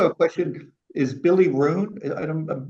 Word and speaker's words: Ruane: Is Billy Roon... I hope I don't mispronounce... That’s really rude. R-U-A-N-E...